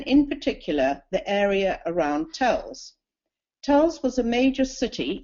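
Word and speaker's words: Telšiai: from Lithuania and in particular the area around tuls tuls was a major city in Lithuania it was sometimes pronounced teli TLS Shi but is now referred to as telai t e l SI i a i which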